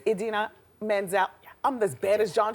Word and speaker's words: Idina Menzel: It's Idina Menzel.